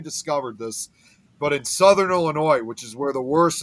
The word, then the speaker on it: Illinois: way you mispronounce it it's Illinois no no no it is not ill you not French isn't silent you're not French the isn't silent no the s is silence it is Illinois yeah yeah all right